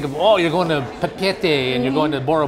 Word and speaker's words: Papeete: Finally, that's how you pronounce it. I've seen it so many times. Yeah. Papeete. Papeete, oh, okay. All right. Not Papeete.